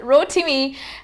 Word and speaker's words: Rotimi: American actor, singer and model Rotimi, that's the way I was told to pronounce it, Rotimi, and his fiancée Vanessa Mdee have announced that they're expecting their first baby together.